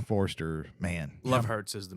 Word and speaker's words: Forster: make a quick correction it was not William forer it was Robert Forster for for Jackie Brown my apologies on getting Mr forer's name wrong Forster man Love Hurts is the movie Love Hurts